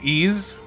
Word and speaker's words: Ys: Oh, it's called Ease. Okay, Ease. My apologies. I I was mispronouncing that.